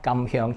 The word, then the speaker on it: Kam Heong: dish it is called kamam hyong chicken so kamong it is uh two Chinese word pronounced in Cantonese which means go golden